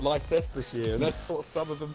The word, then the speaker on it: Leicestershire: No, it's Leicestershire. Leicestershire. Is that But correct? it looks like it's spelled Leicestershire.